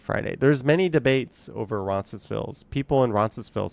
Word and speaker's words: Roncesvalles: There's many debates over Roncesvalles. People in Roncesvalles, some will say the S, some won't say the S.